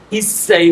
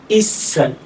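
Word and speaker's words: 一歳: কিন্তু 1 বছরের ক্ষেত্রে আমরা সবসময় মনে রাখতে হবে ইসাই বলবো, উচ্চারণটা হবে কি ইসাই।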